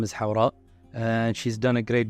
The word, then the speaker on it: Hawra: Hawra?